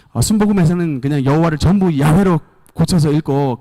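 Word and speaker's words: 야훼: 여호와 여호와 영화 야외 정확한 발음은 야외 에요 원래 정확한 발음이 자 웬 데 야외 에다가 아도나이 이라고 하는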